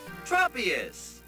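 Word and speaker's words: Tropius: well according to the 3D app the correct pronunciations are tropus Bly oh thank God I finally know how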